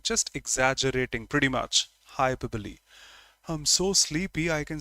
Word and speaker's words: hyperbole: not metaphor no simile no rest of that hyperbole that's the pronunciation I took just 11 seconds to answer